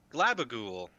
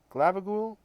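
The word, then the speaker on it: Glabbagool: group how do you say your name again glabagool glabagool do you think you can swim i think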